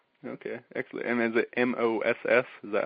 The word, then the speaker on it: mas: And is it M-O-S-S? Is that how you spell it? It's M-A-S. M-A-S, okay. Like Moss, like more in Spanish, but Moss is actually Russian for stick.